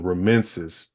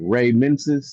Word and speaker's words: Remensis: Telleriano, Telleriano, and then Remensis, Remensis. Like Ray Mensis, like.